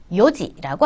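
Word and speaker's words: 四時: 그래서 연지 아니고요. 요지라고 합니다.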